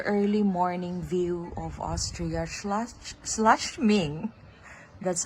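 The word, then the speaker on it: Schladming: And I just want to capture this view, the early morning view of Austria slashming. That's how we pronounce it.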